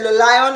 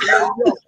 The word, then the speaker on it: Le Lion: Oh, so she gave you the pronunciation. Yes. Yeah. Thank you. Yeah. If I see you or go online and say Le Lion, I'll be like, no, it's Le Lion.